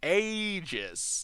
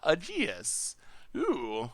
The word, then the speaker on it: Aegis: just wanted to say he is is pronounced Aegis not a Jesus well thank you for